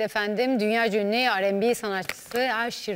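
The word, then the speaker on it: Usher: dünyaca ünü rnb sanatçısı Aşir ile doğru mu telaffuz ediyoruz arkadaşlar bakın yanlış söylüyorsan y işte ingil İngilizce Eee u a okunuyor AŞ Ben de Paris'te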